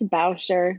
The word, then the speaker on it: Bauscher: It's Bauscher, like Bowser with an H.